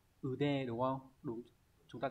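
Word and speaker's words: 腕: Vậy thì cái từ này sẽ đọc là ude đúng không?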